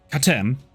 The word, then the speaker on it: Katem: Katem. Katem. Oh, syllabus or this. Okay, accent mark on the first syllable.